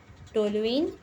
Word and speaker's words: toluene: इसका जो स्पेलिंग होता है TOLUENE होता है, ठीक है। टोलुइन, इसको टोलुइन बोलते हैं।